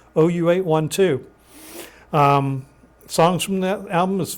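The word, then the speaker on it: OU812: Yeah, they had some unusual names for their albums, but that's how it's pronounced, OU 812.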